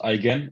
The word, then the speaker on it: Eigen: You pronounce it Eigen. It's like I can. It's the G, like in the word goose, not in geography.